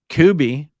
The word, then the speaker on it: Kubi: Kubi rhymes with Ruby.